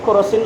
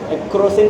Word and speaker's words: केरोसिन: दुखता जरा लाओ तो केरोसिन लाओ तो तक दुकान में गए केरोसिन दीजिए। ये बिहार में शब्दों का उच्चारण है। टिकट को बोलेगा टिकस, स्टेशन पर टीशन, है ना। तो केरोसिन को बोलेगा करोसिन।